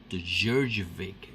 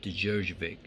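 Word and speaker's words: Djurdjevic: This is the Djurjevic variant. That is how you say his name. All right, Djurjevic.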